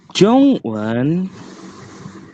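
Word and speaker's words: 中文: ZH nggak boleh ada angin. Z zo zong J, J. jo Zhong, jong Zhongwan, jongwan Zhongwan, jong. Gimana sih biar gak ada angin? Ung. Jongwan Dia dibacanya Ung.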